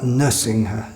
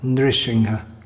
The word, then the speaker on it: Nrisingha: It's not Nusingha, Nrisingha.